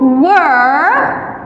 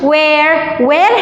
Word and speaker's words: were: They, Gary and Sue, were at school yesterday. They at the dance last Friday شو يعني هديك الجمعة. with they, what do we use? They were. Listen how we pronounce it. Were مش where هديك وين يعني.